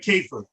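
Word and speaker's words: كيف: i'm giving you okay you pronounce that keifer and that means cow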